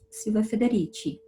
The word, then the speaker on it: Silvia Federici: Isso, eu falo com essa pronúncia porque ela é italiana, então eu falo Silvia Federici.